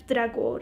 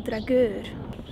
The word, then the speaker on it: Dragør: Dragør, and it's actually a really beautiful little village